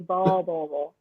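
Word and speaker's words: Beau: ค่ะโบ It's okay I know like it's like B-E-A-U โบ That's okay and I'll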